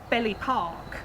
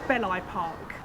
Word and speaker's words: Belli Park: There's a place, we call it Belly Park, but it's not, it's Belli Park.